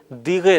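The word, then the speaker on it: دقیقه: لفظ استعمال ہوتا ہے۔ یہ لفظ دقیقے تلفظ کرتے ہوئے یا بولتے ہوئے دیغے رہ جاتا ہے، یعنی اگر آپ کسی ایرانی سے گفتگو کریں گے تو بالعموم آپ کو یہ آواز سنائی دے گی دیغے یعنی دقیقہ۔ آئیے ہم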